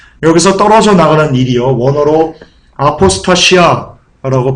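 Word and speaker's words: ἀποστασία: 여기서 떨어져 나가는 일이요, 원어로 아포스타시아라고 발음합니다.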